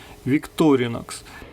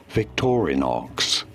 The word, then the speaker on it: Victorinox: Но проведя исследование и поговорив с филологами, оказалось, что правильное ударение будет на первое «о» – Victorinox. Victorinox. Victorinox.